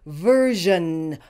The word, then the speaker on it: version: verun in this word the SI is pronounced as a zh that is an sh with a voice this sound is very